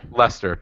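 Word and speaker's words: Leicester: American outlaw Chicago gay they didn't beat my leister city though ray Lester Lester but you're pronouncing it wrong the lifelog fed you know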